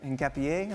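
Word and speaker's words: Hincapié: Shaka, you you uh you've sorted out my pronunciation of Pierro Hapier. In Capier, thank you very much.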